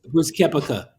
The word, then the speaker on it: Brooks Koepka: Brooks Koepka.